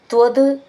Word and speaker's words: ത്വദ്: എങ്ങനെയാ ചൊല്ലുക എന്ന് നോക്കാം ത്വദ് ത്വൽ എന്ന എഴുതിയിട്ടുണ്ടാവുക പക്ഷേ ഇൽ നല്ല ഇത് എന്ന് അവിടെ ഉച്ചാരണം ത്വദ് ത്വദ് ഭക്ത മൗലിർ അഥ ചേർത്തിട്ട് ത്വ ഭക്ത മൗലി രഥ ഭക്ത എന്നുള്ളതിന്റെ ഭ എന്ന് നന്നായിട്ട് ഊന്നി പറയണം ഭക്ത എന്നുള്ളത് കഥ ത എന്നാണ്